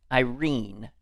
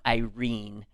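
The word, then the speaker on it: Eirene: His name was Vincent Irene. And I'm assuming that's how he pronounced it. I have to say I don't know that I've heard it. Spelled E I R E N E.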